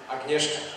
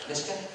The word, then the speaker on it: Agnieszka: Agnieszka. Nishka?